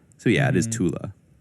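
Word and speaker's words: Thule: So it's pronounced very softly like the a in sofa. So yeah, it is tula.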